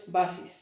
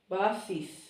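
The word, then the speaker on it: βάσις: The sigma in Greek is a little bit here, just very little.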